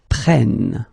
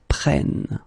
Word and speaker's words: prennent: because it's ils, elles prennent. Okay, so basically you double the N here, and it will give you well, different sound here because you get to open the sound, so it's prêt, prennent.